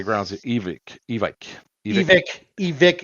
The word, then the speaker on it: Evike: It's Evic. Because the owner's name is Evic.